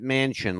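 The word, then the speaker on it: Manchin: his name is Senator Joe Mansion m n c n pronounces it Mansion like the big building the Mansion all right Joe Mansion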